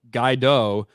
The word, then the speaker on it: Gadot: I pronounce it Guaido because of the movie Waiting for Guaido. The hard T must be a regional thing from Israel since a lot of our words use soft T's. Gal Gadot.